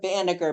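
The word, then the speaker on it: Banagher: Banager. B A N A G H E R. And it's spelled there right on the um thing.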